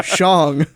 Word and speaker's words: Shang: No, Shang. It was a great way to play on the proper pronunciation of the name while mocking the idea that he would go from Shang-Chi to Sean. Right.